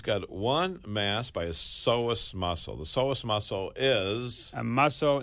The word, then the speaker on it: psoas: the pelvis right now psoas how do you spell psoas p-s-o-as p s o a s now why is there a p there I don't know well the p is silent right yeah now when